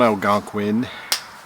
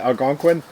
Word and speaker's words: Algonquin: So we're on Algonquin. Algonquin? 60. No, that's how you pronounce it, Algonquin?